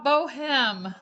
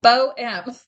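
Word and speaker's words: Bohème: Don't pronounce the H.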